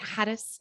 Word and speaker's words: Hadas: Hadas? Am I saying it Yeah, right? it's Close enough. It's a immigrant last name, so that's pretty much how we say it in America.